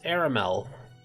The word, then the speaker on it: Aramel: Anyways, his name is Aramel. Last name, Nilo. And it's spelled exactly how it sounds.